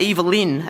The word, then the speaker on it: Evelyn: We're based on the Atherton tablelands at Evelyn, as the locals say. There's lots of other pronunciations, about an hour and a half inland of Cairns.